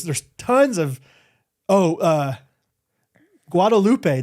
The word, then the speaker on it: Guadalupe: tons of oh uh Guadalupe they say guadaloop guadaloop down a little bit gu a loop I was always proud